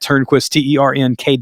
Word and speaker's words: Turnquist: Make sure you follow him on social at Turnquist, Ternkwist. That is not how he spells his name. That's just like the phonetic pronunciation of his name.